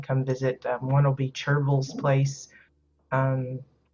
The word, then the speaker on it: Churvil: visit one will be chal's place um c h u r i uh U RV i l it's like the the seasoning I guess is what tural is but